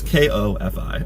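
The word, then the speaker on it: Ko-fi: how to say this I think it's called coffee or cofee or Co Phi you'll see the link down there it's ko fi okay I can spell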